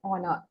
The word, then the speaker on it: honor: into account actually uh this begins with the letter H that is a consonant letter but um taking again the phonetics into phonetic transcriptions into account this H is silenced here and it begins with vowel uh sound oh and so you